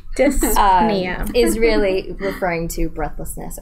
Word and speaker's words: dyspnea: Someone could write in the comments how you pronounce that. That would be dyspnea.